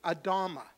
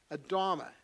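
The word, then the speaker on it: אדמה: I'll give you an example in Hebrew, Adama. Adama. Now, of course, that sounds kind of like who? Adam, right?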